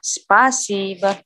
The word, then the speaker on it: Спасибо: Spa si bo. Di A. Спасибо. Спасибо. Jadi O-nya dibaca A.